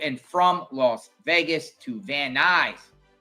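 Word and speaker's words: Van Nuys: This flight flights agent Joseph C to and from Las Vegas to Vanise. He pronounces it van news.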